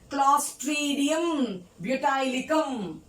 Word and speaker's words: Clostridium butylicum: Pronounce with me. Clostridium butylicum.